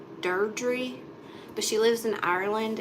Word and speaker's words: Deirdre: It's not Deidre. Hey, Karen. It's pronounced, I think, like Deirdre.